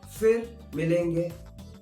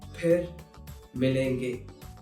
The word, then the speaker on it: फिर मिलेंगे: There's no f sound in Hindi.